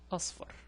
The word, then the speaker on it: أصفر: Then when I pronounce the second part, it would be far, us, far. See?